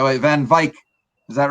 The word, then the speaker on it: Van Wyk: name the right way van vike is that right that's that's good van wyck is sort of how we say it here in north america but i know that's